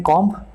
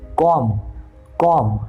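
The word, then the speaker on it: comb: पर इसमें से भी एम बी वाला जो बी है ना उसको निकाल करके उसी फॉर्मूला से प्रोनाउंस करेंगे। तो the correct pronunciation of this word should be कॉम, कॉम, है ना, कॉम। बी को बीच में से साइलेंट।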